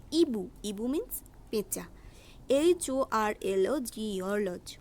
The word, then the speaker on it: hibou: অর্থাৎ HOMME not home এর উচ্চারণ হবে ওম। ওম মিন্স মানুষ। HIBOU নট হিবু, উচ্চারণ হবে ইবু।